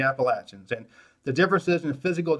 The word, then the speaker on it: Appalachian: South and the Appalachian and yes northerners and Westerners they're pronounced the Appalachian and the differences in